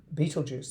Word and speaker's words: Betelgeuse: That's how you say it. You don't say Betelgeuse, which I never knew how to pronounce it until I watched the YouTube video.